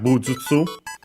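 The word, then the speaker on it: 武術: Then we have bujutsu, Chinese compound, which means martial arts. Chinese compound, accent on the first more.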